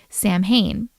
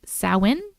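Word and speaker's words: Samhain: Fast forward to when I'm 45 years old and I attend an intimate gathering for Sam Hayne. Oh, no. It says pronounced sin.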